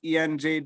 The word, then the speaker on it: Ean: My Ian is spelled EAN. EAN.